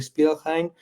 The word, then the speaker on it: Spielrein: Yo lo pronuncio así porque finalmente era la pronunciación alemana, pero Beto saber cómo se pronunciaría porque era rusa. Eh, la querida Sabina era en realidad rusa. Entonces, bueno, habría que ver cuál sería la pronunciación rusa.